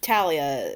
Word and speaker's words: Thalia: Thalia. Is it Thalia? Talia? Talia. I believe it's Talia is how it's pronounced, yeah.